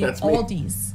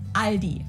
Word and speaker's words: Aldi: heard Aldi before but I think most people say Aldi or they also sometimes add an s that isn't there in the end and say Alis in Germany we just say Aldi it has its origins